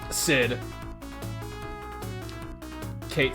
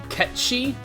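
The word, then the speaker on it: Cait Sith: slash nanaki um Sid Kate said catchy that's how it's pronounced the only reason I'm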